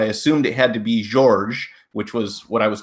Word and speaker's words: Georges: Yeah, it is George, but ever since I was a little boy, people always pronounce the S even though it's silent. And they made the G hard, so it came out George or Georges.